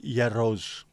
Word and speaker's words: Gyros: so the yo let's go and get Greek Yos right so Gyros is Yo there we go we learn something